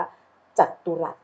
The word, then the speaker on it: จัตุรัส: สอเสือ นะ คะ มี ตัว เต่า เพียง แค่ ตัว เดียว นะ คะ ไม่ ได้ มี 2 ตัว นะ คะ นี่ คือ คำ ที่ แบบ โต พิเศษ ใน ภาษา ไทย เหมือน กัน นะ คะ ที่ อ่าน ว่า จัตุรัส นะ คะ เขา บอก ว่า